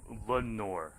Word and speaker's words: Lenoir: So it's Lenoir, right?